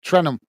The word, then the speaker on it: Trenum: I can never pronounce his name. Trenum, that's it, Trenum.